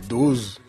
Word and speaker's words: DOZ: Voilà, une toute nouvelle boisson qui s'appelle Dose. Ça s'écrit D-O-Z pour pouvoir faire plein de jeux de mots.